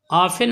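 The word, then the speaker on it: often: ऑफन अक्सर, ऑफन T silent है।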